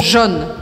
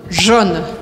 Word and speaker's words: jaune: Algo como jaune, jaune. E um outro ponto muito importante é que a letra E no final da palavra eu não pronuncio. Então a última coisa que você vai ouvir é o N.